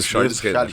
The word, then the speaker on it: Charles Renner: Hoje vamos conversar com Charles Renner. É assim, como que se pronuncia teu nome? Eu falo certo? É isso mesmo, Charles Renner.